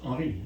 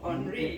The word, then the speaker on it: Henri: In French, it's Henri. Henri. In English, Henry.